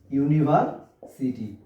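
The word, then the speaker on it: university: এই ধরনের আরো দেখি দুই একটা উদাহরণ দেখি, যে ইউনিভার্সিটি যে ড্যাশ ইউনিভার্সিটি। তাহলে এই যে ইউনিভার্সিটির প্রথম অক্ষরটা কি? ইউ। এই যে ইউ ভাওয়েল হওয়ার সত্ত্বেও আমার যেহেতু উচ্চারণটা ইউ এর মতো আসছে, কিসের ভাইয়া?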